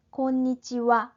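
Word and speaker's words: こんにちは: 와 발음이 좀 다르죠 자 이하 라고 쓰는 글자는 조사 은 눈의 의미를 가질 때는 와 라고 발음을 합니다 이나 긴가 밤 인사는 곤니찌와 오늘 낮에는 어떻습니까 곰방 우와 오늘 밤은 어떻습니까 이런 문장 에서 파생된 어 인삼 말이기 때문에 조사로 서의 와 발음이 그대로 남아있어요 그래서 쓰기는 하라고 쓰지만 발음은 와 라고 해 주셔야 됩니다 낮에는 권위 찌와 밤에는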